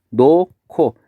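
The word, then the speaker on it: 놓고: 노코. 아음절의 히읗과 디음절의 기역이 만나서 발음이 노코가 되겠죠.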